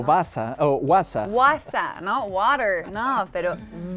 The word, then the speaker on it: was: La B doble no es was como en inglés, sino es was, ¿no? Chicos, eso es súper importante. Yo le digo W, en alemán, por ejemplo, was, dijiste, es como la B de vaca, en español es v, porque muchos dicen woher, was, wo.